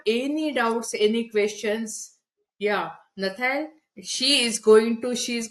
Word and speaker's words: Nathalie: Yeah Natal she is going to she's going to answer all your question. I hope I'm pronouncing your name properly. Yeah. How do you pronounce your name? It's Natalish. Natal.